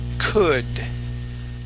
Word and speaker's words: could: All right, we're going to try and end with a D sound on this word instead of could. Could. All right, the D in English feels like the Spanish R. Okay, so like when you say ere, okay, and your tongue hits the top of your mouth, d, d. Okay, it's the same way as the English D, like did.